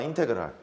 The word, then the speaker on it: 인테그랄: 이렇게 뭉쳐서 인티그레이트에서 나와서 얘를 인테그랄이라고 읽습니다. 한번 읽어봐. 인테그랄. 그렇게 읽어요.